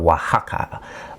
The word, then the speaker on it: Oaxaca: O and X, O X together in Mexico is pronounced like a W. So, it's Waka.